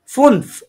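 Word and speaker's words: fünf: এই যে আবার আপু এটা হচ্ছে ফুন হুম ফুনফ ফুনফ হ্যাঁ এফ উন লাউড এন্ড এফ ফুনফ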